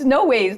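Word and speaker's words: Noahs: and he uh and he was like, "No, it's no ways. That's the way we pronounce it."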